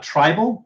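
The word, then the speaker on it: Tribel: we are also we have also joined uh tribal that's t-r-i-b-e-l and Mastodon which is spelled like the prehistoric mammal and um and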